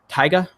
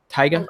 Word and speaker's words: Tyga: book or went to school let's see it's pronounced Tiger without the are so Tyga Tyga is that how I say it okay you've